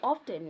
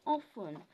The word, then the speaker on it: often: silent words for example you don't say often you say often yeah duvet it's not